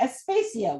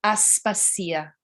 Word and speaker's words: Aspasia: her name again, because I want to say Aspasia, which is incorrect. It is Aspasia.